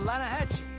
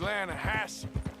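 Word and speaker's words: Lannahechee: You mean the Lanahassee River? No. The Lanahatchee. It runs right near here. Yeah, but it's pronounced Lanahassee.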